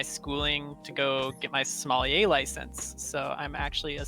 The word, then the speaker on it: sommelier: to go get my sommelier license. So I'm actually a certified sommelier. That's cool. And like how do you say it? Sommelier? Is that right? Yep.